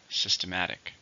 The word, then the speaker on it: systematic: 4, stress on the third. Systematic.